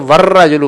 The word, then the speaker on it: والرجل: یعنی یہ سمجھے کہ واو کے بعد را پر شد آ گئی تو ہم نے وہ الف لام درمیان میں سے نکل گیا, یعنی تلفظ جب ادا کریں گے تو والرجل پڑھیں گے. تو ور میں جو ہے نا را پر شد ہے, یہ سمجھ لیں پروننسیشن کرتے ہوئے. لکھنے میں تو آئے گا,